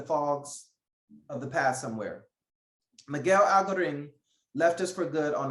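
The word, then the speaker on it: Miguel Algarín: Miguel Algarin.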